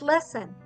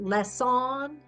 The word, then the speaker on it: lesson: What's going on is that second syllable is unstressed. This vowel is a copycat. It's kind of copying the sound of short U and saying, really it's in between vowels. And so it's mushy. And so it's our unstressed syllable. We can say, we sounded out lesson, but we say lesson because of the crazy schwa.